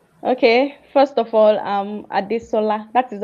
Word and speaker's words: Adesola: First of all, I'm Adisola. That is how it is pronounced.